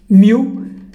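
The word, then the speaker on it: μ: Le mu, on le prononce comme ça, mu, c'est le micro que nous avons vu et qui est égal à 10 puissance moins 6.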